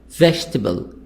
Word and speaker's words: vegetable: plus a e i o u silent example vegetable e here this is stressed in the beginning which is silent interesting e e silent interesting we say